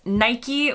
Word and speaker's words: Nike: again very official research being done here it's pronounced Nike with no alternate options given let's move on